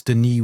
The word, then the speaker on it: Denis: By the way, it's Denis with a silent S because he's Canadian and French.